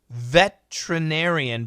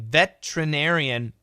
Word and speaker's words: veterinarian: spell it for you listen carefully again veterinarian veterinarian but the spelling is ve te R I n a r I a n alright one more time